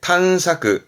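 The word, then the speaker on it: 探索: 이건 탐자, 탐색, 탄사크, 탄사크. 했던 거 모자, 모색하다, 모사크, 모사크. 그렇죠. 이게 색인입니다.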